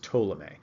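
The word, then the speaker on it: Ptolemy: this guy told me the P is silent by the way so it's pronounced ptolemee he used scientific investigation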